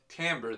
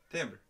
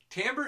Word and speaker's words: timbre: you for that medic it's actually pronounced Tambor though that us s what I said timber timber as I said it Tambor is the unique quality